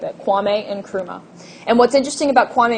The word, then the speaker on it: Nkrumah: the leadership of Kwame Nkrumah Kwame and always pronounced the end Kwame Nkrumah it's not silent we don't skip it Kwame Nkrumah and what's interesting about